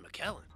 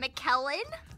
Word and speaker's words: McKellen: an echo chamber Ian McKellen what no I said it rhymes with Helen it's not Iain McKellen I don't get it